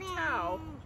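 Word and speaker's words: Thao: And her name is spelled T-H-A-O, which sometimes might look like a different pronunciation. And this is a real story about a woman named Tao.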